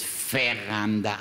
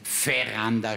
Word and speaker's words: Veranda: Im Rheinischen heißt es Veranda aus gutem Grund. Veranda schreibt man nämlich mit spricht man Vogel V und nicht Vogel V aus.